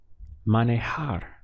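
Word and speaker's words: manejar: which in Spanish is Manohar we have three syllables man a hard money har how would you say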